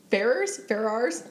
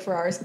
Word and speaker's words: Ferrars: It's been 16 days since Juliette Ferrars? I don't even know how to say her last name. I say Ferrars. Ferrars. Like Ferrari.